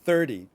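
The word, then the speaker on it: thirty: And then for 30, it's going to be on the first part of the word, 30.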